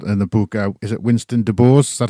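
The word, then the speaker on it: Winston DuBose: Is it Winston De Boers? Is that how you pronounce his surname?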